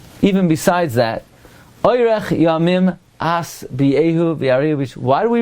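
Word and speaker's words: אשביעהו: Now, by the way, most people mispronounce that pasuk. Most people say Oirech yamim azbiehu. If you listen to it, they say z. They turn into an insect and they start zuzzing. It's asbiehu with a sin, not a zayin.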